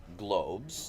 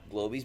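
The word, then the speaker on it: Glowbes: the Globes so I I have always called them Globes I call them a portmanteau of course of blow and the globular shape that they are I think it's okay as a secondary alternate pronunciation to call them glow bees but the official monster hand the pronunciation is globes are there any other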